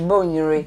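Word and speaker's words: Bonwire: Went to I think it was Bomuri and then made the kente. Sorry, it's Bomuri. Oh, my bad. Anyway, that's how you say it. You need to say it properly.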